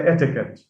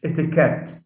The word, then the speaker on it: etiquette: uh words like sometimes we often hear people say etiquette it's etiquette now that's another suffix ette